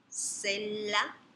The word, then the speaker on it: sella: Ponemos aquí la palabra silla y podemos observar que, bueno, viene del latín sella, doble L es como en latín, se pronuncia como una L arrastrada, doble L, sella.